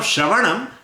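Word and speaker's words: श्रवणम्: Now Shravanam, now first Shra should be pronounced and then there is a little gap. Then Va will be pronounced, then little gap. Then Ana will be pronounced and then Makara.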